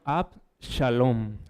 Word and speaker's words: Absalón: Absalón se pronuncia Abalom en hebreo y significa padre de la paz.